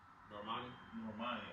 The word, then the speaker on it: Normani: Normani.